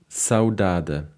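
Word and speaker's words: saudade: it on the screen saudada actually with the the Portuguese pronunciation by the way this is a Portuguese word okay would be from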